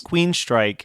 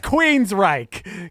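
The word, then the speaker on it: Queensrÿche: had picked somebody else Queen strike Queen strike are you calling them Queen straight he's definitely calling them Queen strike yeah it's Queen's Reich come on you know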